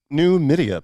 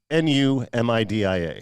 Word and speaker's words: Numidia: But there's also New Media, Pennsylvania. Oh, Media. Yes. I got you. Now, they mispronounce it here. It's as New Media. Yeah. It's Numidia.